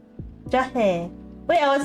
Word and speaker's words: jahe: The drink's name itself is the ingredients, which I will totally mispronounce right now. Susu, telur, madu, jahe, milk, egg, honey, and ginger.